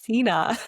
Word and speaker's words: Sena: So, I'm just going to name right now that I've been calling you Senna for 2 years. It's okay. it happened. And today she's like, "Lisha, it's Cena."